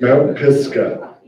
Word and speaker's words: Mount Pisgah: How do you pronounce it? Mount Pisgah.